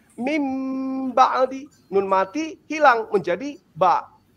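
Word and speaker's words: من بعد: ya seperti eh iqlab misalnya min baadi atau mambi itu tidak boleh kemudian membacanya eh min ba'd tapi harus membacanya mim ba'di.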